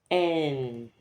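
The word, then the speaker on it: 円: En En, so it's written as yen, but the pronunciation is en.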